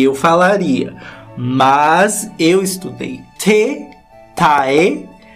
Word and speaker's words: Taehyung: Taehyung.